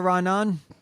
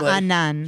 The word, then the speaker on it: Raanan: Listen, but it's a question of whether it's 2 syllables or 3. It's 2. No, it's 3.